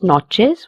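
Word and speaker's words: noches: This word has a ch in it. It will be pronounced as chill. Buenas notches which means good night.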